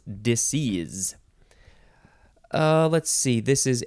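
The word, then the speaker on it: disseise: words now we have I guess it's pronounced disease yeah disease disease you can spell it d-i-s-s-e-i-s-e or the last s can be replaced with a z so it's disease uh let's see this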